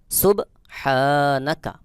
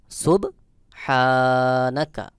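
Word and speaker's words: سُبْحَانَكَ: আলিফ জবর হা সুবহা এখানে দেখুন হা আলিফ জবর এক আলিফ টান হা এই হা হলকের মধ্যখান থেকে একটু চাপ দিয়ে উচ্চারণ করতে হবে সখী উচ্চারণ হলো সুব হা নুন জবর না কাফ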